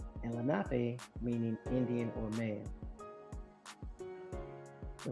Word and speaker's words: Lenape: Swedes also settled in the area, and the early Swedish sources listed the Lenape as Renape, probably because they had a hard time pronouncing Lenape, no.